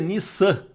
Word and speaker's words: Nisan: ali, no mês de Nisan, a pronúncia é Nissan, com 2 S's, né? A gente pronuncia como se fosse um S só porque está em português, mas o som do hebraico é Nissan, né?